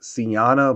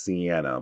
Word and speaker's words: Siena Blaze: new character known as Siena Blaze. I want to say it's Siena, but I also heard her be pronounced as Sienna, but I'm calling her Siena Blaze.